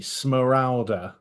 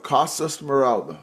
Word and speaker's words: Smeralda: It's like Esmeralda without the E. Smalda. Morala. Costa Smoralda.